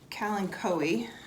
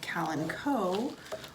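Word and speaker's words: Kalanchoe: i'm just going to get this calancoe it's also sometimes called calenco also sometimes called callan joey i like calancoe it's the one i heard the most when i was researching pronunciations and i just think it sounds really nice kellen coey and again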